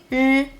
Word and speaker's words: 日: The difference between 诗 and 日 is that 日 is a voiced sound, which means you have to vibrate your vocal cords to make the 日 sound.